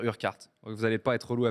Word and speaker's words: Urquhart: réglé ça va mais son nom de famille c'est ça s'écrit your hat on va dire urquhart vous n'allez pas être loués avec moi on va dire fergus burkhardt un mât fergus urquhart il a dit on